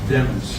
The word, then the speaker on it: Demons: It's pronounced Demons, D-E-M-O-N-S.